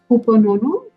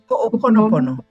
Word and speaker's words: Ho'oponopono: You'll have to tell me again how to pronounce it. Ho'oponono, is it? Ho'oponopono.